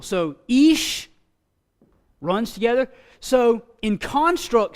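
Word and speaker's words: אִישׁ: It's Ish. Remember our Hirik and our Yud gives it a E sound, like the I is in machine. Machine. So it's Ish, Ish.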